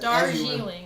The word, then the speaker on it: Darjeeling: So apparently it's Darjeeling. Pronounce it Darjeeling.